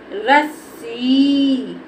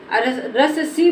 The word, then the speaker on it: रस्सी: स्थान दूसरा शब्द देखो रस्सी क्या बोलेंगे इसको रस्सी रस स बोल देंगे तो हमारा गलत हो जाएगा इसको बोलेंगे रस्सी अब देखो हा हमारा